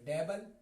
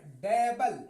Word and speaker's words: dabble: अब कुछ लोग इसको पढ़ेंगे डेबल। असल इसका उच्चारण है डेबल, डेबल, डेबल। डबल नहीं पढ़ेंगे इसको, डेबल।